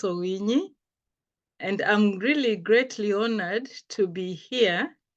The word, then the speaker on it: Owinyi: Yes, you pronounced Owinyi correctly. And yes, that is how we pronounce Owinyi.